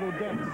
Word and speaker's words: Odense: Odense. Odense. It's the Danish O, George. If you ever look at the map, the O with the stroke. Yes, yes. Now, why does Eric the Red call it Odense?